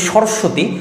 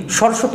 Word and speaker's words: সরস্বতী: যেমন ধর আমরা যদি বলি সরস্বতী সরস্বতী উচ্চারণ করতে গিয়ে কি একটা ব ফলা আছে না? আচ্ছা এই যে বটা এটা তো পুরোপুরি ব উচ্চারণ করলাম না আমি ফলা করে উচ্চারণ করলাম ব ফলা অন্তস্থ